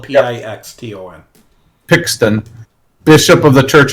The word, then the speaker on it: Pixton: It sounds like piston, but it's spelled P-I-X-T-O-N.